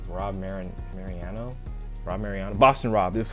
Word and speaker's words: Mariano: how do you say the last name rob mariano rob mariano boston rob this was boston rob's